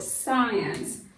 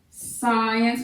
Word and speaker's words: science: The first word we're going to seek to define is the word science. Science, which is S-C-I-E-N-C-E. That is a two-syllable word.